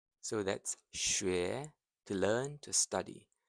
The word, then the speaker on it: 学: 学 So that's 学 to learn, to study. The X sound is like a soft she. Tongue forward near your teeth.